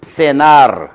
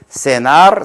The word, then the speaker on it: cenar: C는 이와 같이 아이와 어울릴 때는 C 다 ciudad 이와 어울릴 때는 senar, ciudad 이렇게 발음이 된다는 것을 유념해 주세요.